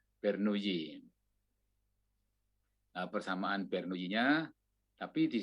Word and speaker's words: Bernoulli: Ini orang Prancis, ya, jadi membacanya ya ala orang Prancis, ya. Bernoulli. Nah, OU itu dibaca U biasa. Nah, LLI itu dibaca Y, jadi Bernoulli. Bernoulli.